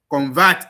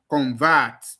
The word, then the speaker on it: convert: Noun version, stress on the first syllable. Verb version, stress on the second syllable.